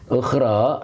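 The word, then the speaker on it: أخرى: Ukhra, iya ini ukhra itu akhirat yang dimaksud ya. Ya, yang dimaksud adalah akhirat. Akhirat. Itu dibaca wa ukhra.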